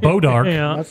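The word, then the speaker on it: Bois D'Arc: the to in the in the state of Missouri there's a town called bodar that is spelled boys the ark Bo I yeah Bois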